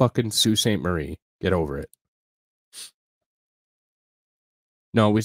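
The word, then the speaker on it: Sault Ste. Marie: people are like oh it's spelled salt no it's Sue St Marie get over it no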